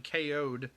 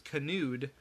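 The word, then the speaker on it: kayoed: spelled out k-a-y-o-e-d-k-o'd so at first i thought it was canoed but it's not canoed um lopez lopez had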